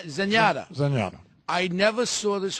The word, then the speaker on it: Zenyatta: Yanetta. I made my pronunciation. Zenyatta.